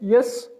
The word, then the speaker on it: ja: Spell करेंगे, JA, और ये प्रोनाउंस होगा या, आपको प्रीवियस लेक्चर ही में बताया था कि जे को आप वाई प्रोनाउंस करेंगे और ये इस तरह से JA इस तरह प्रोनाउंस होगा, YA, लाइक अगर इंग्लिश में कंसीडर करें तो ये वाई ए है, लेकिन जे से जो वर्ड्स भी शुरू होते हैं वो आप वाई से प्रोनाउंस करेंगे, या, जे ए या, सिंपली।